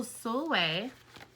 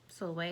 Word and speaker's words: Sulwe: it might be in so soulway sulway is spelled like s-u-l-w-e it is in the